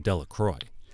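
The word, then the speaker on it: Delacroix: jones and dickie delaqua the villagers pronounced his name de la croix eventually made a great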